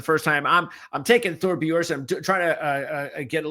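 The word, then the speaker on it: Thorbjørn: Vegas and I have uh how do you pronounce his kid's name again uh Michael oh Thor Boron Thor Boron okay so I Thor Boron on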